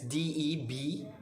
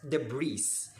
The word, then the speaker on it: debris: this is spelled as d-e-b-r-i-s or mispronounced by anybody or by anyone as the breeze but it's not it's very wrong it is pronounced as debris debris so debris are